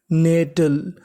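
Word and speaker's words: nettle: आपने गौर किया कि टी हमारा दो बार है। पढ़ना कितनी बार है? एक बार और आखिरी में इ लिखा है इ का उच्चारण करना नहीं तो मीनिंग बनी एन इ ने डबल टी एल ई टल तो पूरी मीनिंग नेटल नेटल नेटल का मतलब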